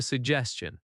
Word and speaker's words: suggestion: I have a suggestion. Stress suggestion on the second syllable.